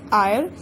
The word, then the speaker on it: heir: एंड आर again it is starting from H but H is silent so it is giving us the sound of O-U-R.